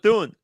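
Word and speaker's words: De Bethune: How do you pronounce The it? Bethune.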